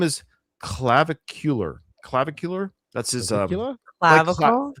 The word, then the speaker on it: Clavicular: But his name is Clavicular. Clavicular? That's his Clavicular? Clavicle? Like clavicle, but it ends with AR. So clavicular or clavicar.